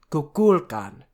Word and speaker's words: Kukulkan: Kukulkan. Accent on the second syllable.